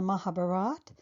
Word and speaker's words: Mahabharata: Arjuna, though at times I may slip up and say Mahabharata and Arjuna. In general, I will keep the A gone and say Mahabharat. Knowing this will help clarify for you why I pronounce these words the way I do in this video series. And also please understand that I've chosen the northern dialect because if you are